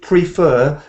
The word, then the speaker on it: prefer: isn't it prefer prefer so it's actually a second syllable I think not prefer but prefer people who prefer bright